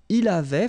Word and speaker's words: avait: So j'avais, final S not pronounced, tu avais, il avait, final T not pronounced, nous avions, let's make this beautiful liaison here, nous avions, okay?